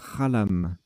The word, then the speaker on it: xalam: Alors j'ai dit Xalam, mais en fait ça se prononce Khalam.